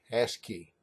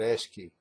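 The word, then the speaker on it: ASCII: Standard code for information interchange or as programmers pronounce it ask key that's right I said ask key and it's a number representation for all the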